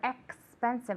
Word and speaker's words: expensive: Remember, expensive. Okay, we don't say expensive, we say expensive. Okay, the X has a KS sound.